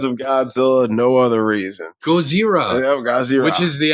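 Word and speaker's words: ゴジラ: Yeah, it is Gojira. There is no L's in it, believe it or not. It's like Gozira is actually how it's spelled. Yep. I know. It's weird. It's weird because when you pronounce it the way it's actually spelled, you sound like you're making fun of how they would pronounce it. But they're pronouncing it right.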